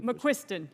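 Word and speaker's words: McQuiston: McQuisten, you are now recognized. Thank you. Am I pronouncing your name correctly? McQuisten, yes.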